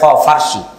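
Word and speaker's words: فارس: আমরা পারস্য বলি, আর এটা ফার্সি, ফুরস। আরবিতেও ফারিস নামে তাদের কথা এসেছে। আরবিতে কোনো পর উচ্চারণ নেই, সব ফারিস।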